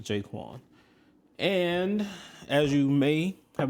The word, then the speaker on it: J'Qwan: And that's how we landed on pronounced jaquin.